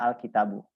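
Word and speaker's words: الكتابُ: asl itu kan kitabun tetapi karena ada alif lam maka siakat belaknya itu dibacanya pakai D aja Jadi dibacanya alkitabu Kenapa kayak Demikian Ya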